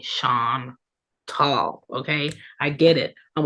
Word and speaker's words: Chantal: nice to meet you again my name is shant tall so when you see me in the streets